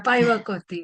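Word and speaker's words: päiväkoti: So, what fondly remains with me is the Paivakot, Shirin, am I pronouncing it right? The daycare, which we Aivakoti. visited. Yeah, Paivakoti, yes.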